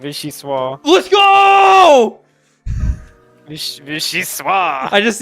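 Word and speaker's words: vichyssoise: Vishi. Let's go. Vishi. I just need to know what language it was. Vishi Swah.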